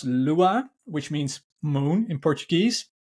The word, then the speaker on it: Lua: Portuguese is awful sorry um the name is pronounced Lua which means moon in Portuguese and it's actually